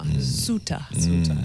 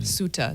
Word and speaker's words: Ceuta: Ceuta. Ceuta.